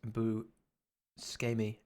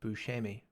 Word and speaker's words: Buscemi: In the US, we pronounce Buscemi as Buscemi, but the way you pronounce it sounds more Italian.